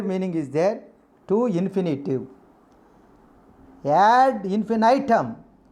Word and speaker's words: ad infinitum: Ad infinitum. Infinitum is one of the pronunciation. Ad infinitum, not ad infinitum. This is the correct pronunciation.